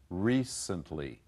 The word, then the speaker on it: recently: used as an adjective both of them have the accent on the first syllable I don't know why but most of my students will put the accent on the second syllable not correct so recent recently but once the woman